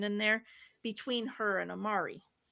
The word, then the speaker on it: Amari: Amati. A m a ti. Amati. Yeah. Amari. Amari. R. Not T. R. Amari.